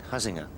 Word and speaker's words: Huizenga: Colin Montgomery has an interesting amateur partner, Bruce Wayne Huizinga. Indeed, well pronounced. Not easy. Huizenga, who's one of the great business.